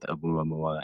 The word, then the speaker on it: Oumuamua: Oh, oddly enough, the first one was called, it looks like Omaha, but it's Uma. I can't even pronounce it. There's so many. Oumuamua? Yeah. But Muamua, there we go.